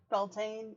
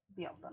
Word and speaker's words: Beltane: Or Beltane, if you're reading it, like, phonetically, I suppose. But the generally, like, the general, like, pronunciation is Beltane.